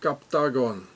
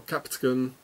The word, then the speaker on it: Captagon: here it says captagon it's like octogon captagon it's the same and every time so here are those captagon pills or capton if you would pronounce it in English and here it says